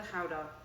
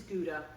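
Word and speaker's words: Gouda: howder yes I'm ready I'm pronouncing it howder because Lisa comes um her family come from from Holland from Holland yes um this is guda in America and Canada and GAA in the UK so this is a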